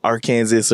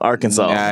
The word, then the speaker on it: Arkansas: about how he like used to live in Arkansas and all this yes oh I said it wrong Arkansas yeah you know whatever floats but it doesn't